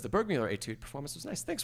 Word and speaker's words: Burgmüller: So there's going to be a masterclass on the Burgmüller, or Burgmüller, I guess is the better pronunciation, Burgmüller.